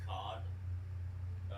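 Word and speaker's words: kad: If you want to say the blade of steel is cod, spelled K-A-D, but you pronounce it with an H between the A and D. So it's not cad, it's cod.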